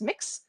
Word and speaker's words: Mx: uh yes that is it's pronounced mix mx period um i'm